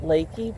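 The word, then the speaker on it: Leakey: This is a place, they call it Lakey, but it's spelled leaky, so we think it's a little funny.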